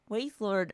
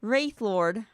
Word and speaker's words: Wraithlord: Oh, elder synth wave waistlord. I think uh that sorry I pronounced wrong. Wraithlord. I'm so bad at WRs.